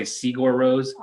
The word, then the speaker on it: Sigur Rós: it's this Icelandic band, and everyone says it different. I think it's pronounced Sigur Rós. A lot of people say Sigur Rós.